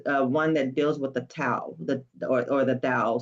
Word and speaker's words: Tao: that deals with the tao the or or the thao. Some people would say they don't even pronounce the T.